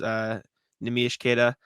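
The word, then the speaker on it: Neemias Queta: Bobby Manning and I were at his event in Quincy, and Bobby asked him, how do you pronounce your name? Nemish Keita. That is the name.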